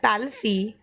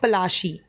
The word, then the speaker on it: Palashi: First, I want to tell you that Palissy is the pronunciation of Palashi. The place derived its name from a palash tree.